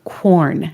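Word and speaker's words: Quorn: substitutes that are sold under the brand name corn and that's spelled qu o r n as far as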